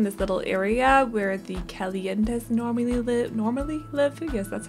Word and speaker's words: Calientes: But today we're building the other 40 by 30 in this little area where the Calientes normally live. Yes, that's how you pronounce it.